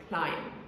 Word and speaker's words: climb: How do you even start explaining to someone why there is a B in a word, but you don't pronounce it? What is it doing there? Why isn't the spelling just C-L-I-M? Anyway, the word is pronounced climb.